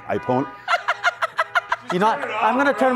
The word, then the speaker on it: Ai Pono: Ai Pono, baby, and it rhymes with the roots, the good stuff.